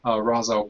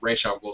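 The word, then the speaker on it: Ra's al Ghul: probably going to be R'as Al Ghul, or R'as Al Ghul, since they're using the animated series pronunciation rather than the Nolan one, which got everyone psyched.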